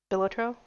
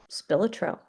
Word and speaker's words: Spilotro: His name was Anthony John Billotro? Spilotro. I know I pronounced it before, but hey.